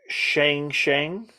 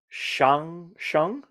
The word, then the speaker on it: 相声: Is it called Shang Shang? Yes, but Did I do it right? you definitely butchered the sound.